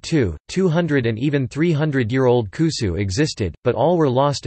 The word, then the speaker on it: 古酒: Koshu. When awamori is aged for 3 years or more, it is called kusu, good old liquor. This pronunciation is unique to awamori in Okinawa.